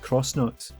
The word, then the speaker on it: X-Nauts: but by the X-Nauts, who I'm only just learning might actually be pronounced Cross-Nauts.